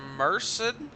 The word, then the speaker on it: Merced: He is from Merced.